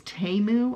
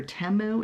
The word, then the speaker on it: Temu: The name of the company is Temu. I guess I'm pronouncing it right, or Temu.